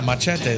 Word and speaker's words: Machete: Yeah, Machete. That's how you say it.